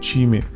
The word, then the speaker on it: CME: Помпа тут стоит не китайская и при этом не типичная бюджетная улька, а от самой компании CME, что на итальянском будет произноситься как Чими.